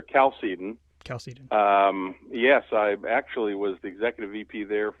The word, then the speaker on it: Chalcedon: Well, actually, it's the original pronunciation is not exactly certain, but it's pronounced there Chalcedon.